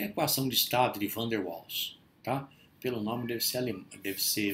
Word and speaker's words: Van der Waals: Então vamos falar daqui para frente, Van der Waals, com V, que é o holandês, é muito parecido com o alemão, né? Van der Waals, na verdade, a pronúncia correta, em holandês, tá?